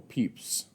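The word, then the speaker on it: Pepys: is from him that I learned to properly pronounce the name Samuel peeps so for me that's a big plus of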